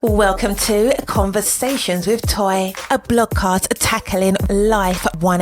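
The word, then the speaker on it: Toi: conversations with toy and my name is toy but I go by toy and of course if you've been seeing the podcast artwork it is spelled t oi I am a Philadelphia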